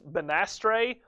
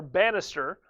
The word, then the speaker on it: Banastre: Depending upon how you want to pronounce it, it's Banastre or Bannister, but Tarleton sticks.